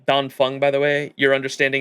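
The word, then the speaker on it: Dan Feng: old I think right it's pronounced uh don Fun by the way your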